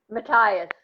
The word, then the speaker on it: Mateus: know I think I'm always pronouncing your last name wrong mattias okay good I did it right so it